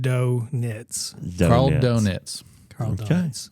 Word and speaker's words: Dointz: It's Dointz, pronounced donuts.